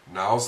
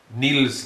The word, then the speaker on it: Nils: Marvin Gaye, Duke Ellington, Niles Lofgren. Or is it Nils? Nils Lofgren. There's no E.